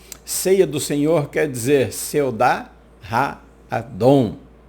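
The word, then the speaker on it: סעודת האדון: Em hebraico, ceia do Senhor quer dizer Seudá Ha-Adon. É pronunciada dessa forma.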